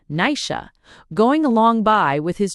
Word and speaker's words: Naisi: One day when Deerra had grown to be a fine big girl, she looks out of the window and she sees Nicey pronounced Nisha going along by with his two brothers, the three of them together, they having been hunting in the mountain.